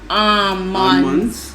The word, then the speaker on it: almonds: has another one with almonds. Not almonds. The L is silent.